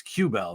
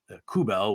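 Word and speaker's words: Aubé-Kubel: it's not always right they had Nicholas obey cubelle wrong and still do it's cubelle not kubel which is what in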